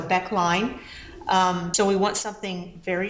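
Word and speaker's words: Becke line: I've heard it's pronounced Becky line, so Beck line.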